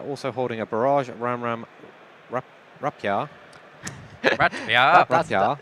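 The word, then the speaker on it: Rapiera: holding a Barrage, Ram Rapia. Rapia. Is that how you remember how to say it? Yes. Because you keep calling it Rapatia. Yeah, that's by saying Rapia, I'm not saying it wrong now.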